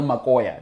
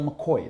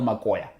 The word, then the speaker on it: makoya: We call it the real Makoya. Now, the Brits say real McCoy. That's not how you say it. It's the real Makoya.